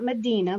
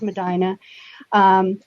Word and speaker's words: Medina: Medina. See, you pronounced it correctly. It's not Medina, like everybody wants to say. It's Medina.